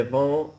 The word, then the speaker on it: viens: Je viens de la Californie. Oui, je viens de la Californie. Je viens de la Californie. No, but don't forget, je viens. Je viens. Oui, so it rhymes with bien, okay?